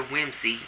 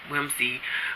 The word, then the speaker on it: Wimsey: a prominent financier but Lord Peter Wimsey I keep the like I'm said his name wrong wimzie who dabbled in mystery